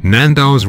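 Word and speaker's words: Nando's: oh okay then nandos nandos rhymes with tornadoes the word tornadoes has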